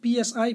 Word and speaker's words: psi: their size psy psy this is written as psi P is silent for energy level yeah yeah do